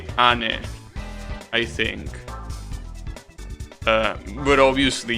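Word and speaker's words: 兄: let's see uh yeah it was annie that's how you say it that's the the actual word no it's not it's ani that's the word that specifically means older brother obviously nissan and onisan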